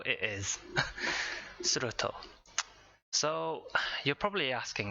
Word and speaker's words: Surtr: Right, Surtr it is. Surtr.